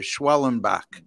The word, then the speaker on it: Schwellenbach: Atlanta and San Diego all right and Spencer schwellenbach is making a start I'll I'll pronounce it for you schwellenbach right all right well you know wasn't there